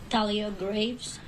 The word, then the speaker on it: Thalia Graves: we have the correct do you want to pronounce her name Talia Graves okay thank you m GL are you in